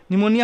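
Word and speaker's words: pneumonia: निमोनिया में मालूम है एन से नहीं स्टार्ट होता है, पी से स्टार्ट होता है। ठीक है, और PNE होता है, ये भी हमें मालूम है।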